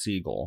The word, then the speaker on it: Seagal: day Belarus side note Seagal's last name was originally pronounced Siegel but after Segal had